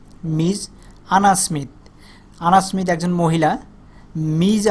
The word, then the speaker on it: Ms: লেট me introduce you টু আওয়ার new colleague মানে হচ্ছে সহপাঠী, নতুন টিচার যে মিজ MS, এটাকে উচ্চারণ করতে মিজ আনা স্মিথ একজন মহিলা।